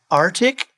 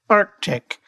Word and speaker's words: Arctic: Kids, does your geography teacher say Arctic? Remind your educator that there is a C in the word and it is pronounced Arctic.